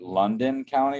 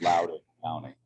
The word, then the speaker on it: Loudoun County: The most disturbing thing that I heard from everything you just said was the fact that you pronounced it London County when it's Loudoun County.